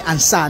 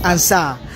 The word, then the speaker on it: Ansah: Ansa I think the name machitira pronunciation Dr. Ansah, not Ansah. This is Ansah.